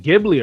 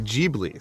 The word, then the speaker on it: Ghibli: also hear people say jeebly so i don't know brad what is it i've always called it ghibli but um i cuz i think the h is silent but also tango kind